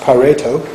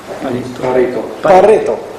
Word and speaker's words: Pareto: In English, maybe pronounced Pareto. I think he was Italian, wasn't it? No? Yes. He was Italian. So what would the Italians call him? Pareto.